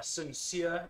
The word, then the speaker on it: Sin Seer: uh sincere is spelt as an s-i-n-s-w-e-r sincere like the i like the play on that name yeah are you being